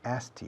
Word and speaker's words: asked: que los británicos también, nos comemos la K. Asked you. I asked him. Asked you. Asked me. He asked me. Como si fuera A-S-T. Asked.